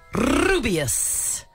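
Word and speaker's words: Rubeus: I reckon he played rubius Hagrid is that how you pronounce it absolutely sure is rubius with that rolling ah anyway he passed away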